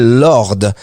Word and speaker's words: Lorde: s'appelle Royal c'est le groupe s'appelle Lord alors ça s'écrit Lorde si jamais vous recherchez